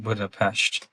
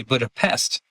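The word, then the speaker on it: Budapest: And you know, it's interesting because people they mispronounce a lot of times Buddhap Pesh because people will say Buddha Pest and Hungarians It's not pest. It's Pest. It's Pesh. Yeah.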